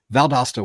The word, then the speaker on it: Valdosta: Being that you're located in Valdosta, am I pronouncing it right? Valdosta, Valdosta, which is it? Valdosta works.